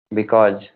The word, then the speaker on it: because: Because, Because, sa sound, because.